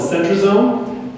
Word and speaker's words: centrosome: That's called the centrosome. It rhymes with Rome.